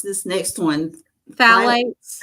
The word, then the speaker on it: phthalates: Phthalates. Phthalates. The P is silent, so I guess it's phthalates.